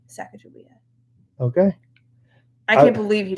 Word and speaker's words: Sacagawea: here oh my gosh oh sacagawea is how you say that name it's like a joey